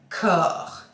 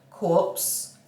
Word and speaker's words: Corps: So this is the Lotion P50 Corps, not corpse, corps. Let's say it right. Corps is body. Yeah, not dead body.